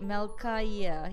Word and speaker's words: Malaya: how are you doing melaya and wait am I pronouncing your name right Malaya yeah Malaya and how you doing Kil